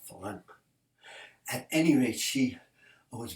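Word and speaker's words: Farrenc: Ferenc. Can't pronounce that C too hard. Ferenc.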